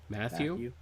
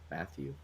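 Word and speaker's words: Mathieu: guy named tyrann mathau matthau is that how you pronounce it matthew matthew walter matthau tyrann matthew uh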